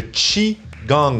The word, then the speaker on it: Qigong: C'est le Qigong, même si ça s'écrit avec un QI.